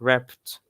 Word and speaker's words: ripped: وpronunciation بتاع الاي دي لما تيجي بعد unvoiced sound it pronounces T like this ripped, stopped, okay, fixed, right?